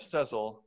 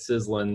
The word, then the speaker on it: Sezzle: You know, people around the world pronounce it differently. So we get sizzling, sezzle.